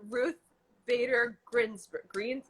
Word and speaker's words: Ruth Bader Ginsburg: So I've heard that one of your idols is, I don't want to pronounce it wrong, but Ruth Bader Ginsburg.